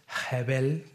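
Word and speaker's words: הבל: todo bien frío Y usted pronuncia la palabra hebel así con con un como una especie como de J al inicio hebel lo que va a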